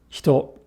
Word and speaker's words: 人: The word for person, hito. Hito. Here, the E is found between two unvoiced consonants, H and T. Thus, the E becomes devoiced.